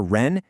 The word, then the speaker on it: 人: Finally, that last character ren has a neutral tone here. That means it's unstressed, short, and light. It's not go, ren, with a big emphasis, but more like goren. It almost just tumbles off the end of the previous word.